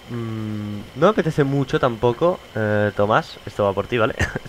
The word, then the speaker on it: Tomás: Por ejemplo, ahora sé que Tomás, en este caso, tiene el acento en la A, entonces pues...